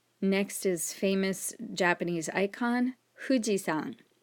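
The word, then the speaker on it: 富士山: is famous japanese icon fujisan notice that i didn't say fujisan i didn't say an f it's more like an h u sound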